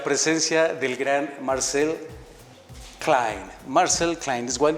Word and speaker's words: Marczell Klein: Marczell Klein is well pronounced?